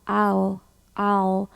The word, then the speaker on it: I'll: talk to him 잘하셨어요 마지막에 아의 추격형 그죠 I'll 아라고 발하시고 L 발음을 연속을 해 주시면 돼요 그래서 I'll talk